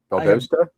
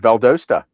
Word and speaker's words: Valdosta: Uh it said Valdosta. There you go. Type in Valdosta how to pronounce. It's v a l d o w s t u h.